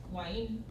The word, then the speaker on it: guaín: Así como lo del cómo lo pronunciáis. Guaín.